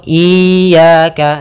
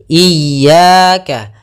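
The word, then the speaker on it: إياك: kita ulang iyaka iyaka ada dua kesalahan yang sering terjadi dalam pelafalan iyaka yang pertama memanjangkan I memanjangkan memanjangkan I apabila dipanjangkan huruf i-nya banak contoh iyaka salah karena dia memanjangkan yang kedua adalah menahan iaka itu salah juga usnya dia cukup menekan linnya iyaka iyaka kemudian kita sempurnakan kasrah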